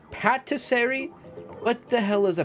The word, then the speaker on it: patisserie: have a drink stand it's pronounced patisseri is it patisseri what the hell is